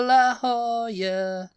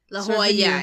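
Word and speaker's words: La Jolla: Beach Boys all over La Hoya La Hoya yeah it would really be la la Hoya l in Spanish is y it's a y sound so la Hoya yeah yeah but I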